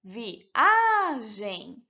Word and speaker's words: viagem: Por exemplo, viagem. Separando as sílabas, viagem. A sílaba mais forte é a A, que é a penúltima.